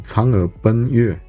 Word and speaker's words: 嫦娥奔月: Em chinês, a gente pronuncia a história como Chang'e Ben Yue.